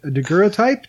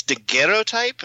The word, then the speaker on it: daguerreotype: This is a daguerreotype. Do I have that pronounced right? I think it's daguerreotype. It's French, but I don't think it's really relevant either.